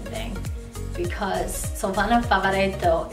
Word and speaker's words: Favaretto: It's pronounced Krasinski. Krasinski. I feel for John because Krasinski is hard to say, but also Favaretto is really hard to say too.